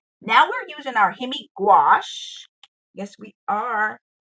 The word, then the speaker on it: gouache: Now we're using our Hemi gouache. Yes, we are. Gouache rhymes with squash to color the grass, and see how quickly it went.